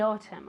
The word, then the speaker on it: autumn: es como una O, tiene que ser the autumn, okay?